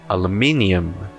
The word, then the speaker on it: aluminium: Próxima palavra, No inglês americano se fala aluminum. Aluminum. No britânico, aluminium. Aluminium. Se você perceber bem, é tudo uma questão de onde está a sílaba forte.